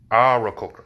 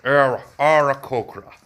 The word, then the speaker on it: Aarakocra: Aarakocra. That's how you pronounce it. It even says so on, I think, D&D Beyond. The Aarakocra. You gotta say the A as if you're saying happy.